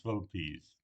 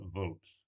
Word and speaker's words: vulpes: So both in the genus vulpes, and notice pronunciation is vulpes, not vulps.